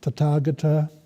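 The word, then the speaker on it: Tathāgata: We have Tathagata, notice the pronunciation, means, has a difficult etymology.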